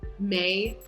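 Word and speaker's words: Mai: kind of weird pronunciations like mei is spelled m-a-i but if you were gonna in pinyin that should be pronounced my like if you were gonna write it in opinion it should be m-e-i to be pronounced may and so anyway love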